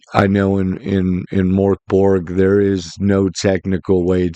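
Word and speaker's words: Mörk Borg: name so I'm just going to call it Mor Borg I believe it's moror bori um is how it's really said um but MK Bor is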